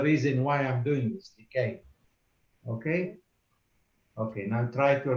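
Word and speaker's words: لكي: the ya has got a sukoon, so You don't pronounce it really, you do, right? you just touch it. So the word is likai.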